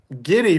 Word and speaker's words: Giddey: Giddy rhymes with Diddy.